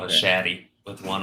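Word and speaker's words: Chery: uh the best one the Brazilian one is a shaty it's spelled like Cherry with one R um it's a it's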